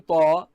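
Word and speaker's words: ط: In Ta, Ta sound should be hard, and also it should be pronounced as if the mouth is filled.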